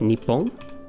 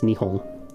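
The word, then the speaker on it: 日本: in the g show the pronunciation guide they give you is nihon and you'll see other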